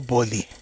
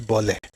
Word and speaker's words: Boli: Or Boli. It says Bole. I mean, if they want to pronounce it as Bole, that's fine. You know, that's okay. But it's still Boli.